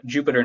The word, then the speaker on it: Jupyter: called a Jupyter notebook, Jupyter is how it's spelled, but Jupyter notebook.